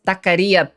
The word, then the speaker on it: taquería: Es taquería, pendejo. Decilo bien, hombre. Taquería. Say it right. Stop saying it white, okay?